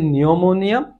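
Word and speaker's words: pneumonia: এসএনএস এর ক্ষেত্রে নিউমোনিয়ার ক্ষেত্রে পিটা সাইলেন্ট একটা লেটার, সো নিউমোনিয়া পিটা সাইলেন্ট থাকবে, বাট ওটা ওখানে অস্তিত্ব থাকবে ওটার, NEU নিউমোনিয়া।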